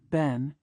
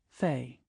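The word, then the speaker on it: 贲: Ben has two branches, one is pronounced Ben, and the other is pronounced Fei.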